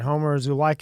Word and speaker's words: Homer Zulaica: We got Homer Zulaica in here.